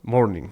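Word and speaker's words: mourning: eh morning de Casey morning se pronuncia como morning como mañana en inglés pero es o u hay una u después de la O no morning que significa ya sabéis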